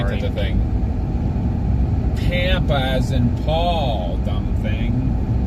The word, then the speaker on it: Pampa: How does it Is it pronounced Tampa as in Pampa? It is Pampa.